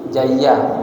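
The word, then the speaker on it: جَيَّاف: Jimnya dibaca fathah berarti jayyaf. Oh baca jayyaf watasdidil ya. Jayyaf. Nah boleh dibaca jayyuf boleh disebut jayyaf bifatil jim huruf jimnya dibaca fathah. Wat tasdidil ya. Yanya dikasih tasdid kama filamus.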